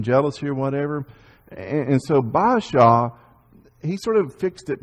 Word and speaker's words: Baasha: And so Baasha, and that's how I pronounce it, it may be pronounced differently, but Baasha, he was king now of the northern kingdom.